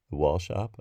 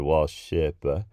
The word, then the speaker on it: Wallshøppe: this email from Wallshøppe I think it's pronounced wall shop the reason that I said wall shöp-pah because it has a o with a stroke through it which I don't